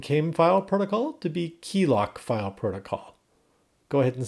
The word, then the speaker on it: KeeLoq: And then on file, we'll change this file from came file protocol to be KeeLoq file protocol.